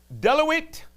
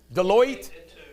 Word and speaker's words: Deloitte: seen do you believe john kerry i don't deluit i always mispronounce this roger how do you pronounce it the accounting firm deluit deloitte deloitte and touch deloitte and douche has come